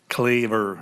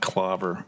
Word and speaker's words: Claver: And by the way, it's Claver School, not Clover, Claver School.